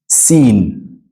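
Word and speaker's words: سين: this is Sin sinen Sin also comes from the same place as Z you your the tip of your tongue touches your uh the lower touches the roots of your lower teeth from inside so we have Shen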